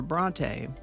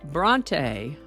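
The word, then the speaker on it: Brontë: like naive, Noel, or Bronte. Over time, we come to know that they're pronounced naive, not knave, Noel rather than Noel, or Bronte, not Bront.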